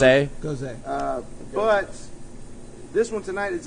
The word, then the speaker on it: Gose: brought 2 beers that were more on the goes sour edge of it. Gose, So- according to Gose. Professor Brandon, correct? It's actually Professor Brandon, pronounced Gose. Goes A.